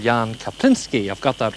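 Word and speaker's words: Jaan Kaplinski: needed whatsoever i have now a gentleman called jan kapinski i've got that right jan haven't i i have pronounced it right have i yes yes certainly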